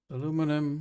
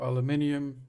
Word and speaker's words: aluminium: pressed aluminum of course metal aluminum or aluminium depending on if you pronounce the american or the english version we select brushed aluminum